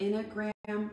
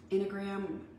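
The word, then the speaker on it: Enneagram: to mispronounce this it's the inner gram test in a gram starts with an e if you look it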